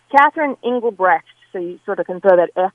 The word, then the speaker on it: Engelbrecht: me i have been called worse it's Catherine Engelbrecht so you sort of concerted on the end